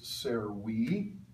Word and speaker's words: servi: And if you look at the words on page 34, words like servus, servi, the second dictionary entry ends with that I, pronounced long E, or equus, equi, that gives us a second declension noun.